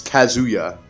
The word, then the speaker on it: Kazuya: It's Kazuya. Kazuya, not Kazuya.